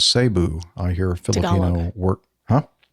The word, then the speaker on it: Cebu: He says, "The Tagalog pronunciation is Sabu.